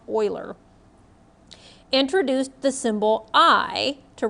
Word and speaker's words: Euler: i know it looks like euler but it's pronounced euler introduced the symbol i to represent the square